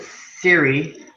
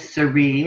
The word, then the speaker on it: Serie: Steve and I were just talking about our roots and how Serie, most people pronounce it Serie, but it is Serie and it's French.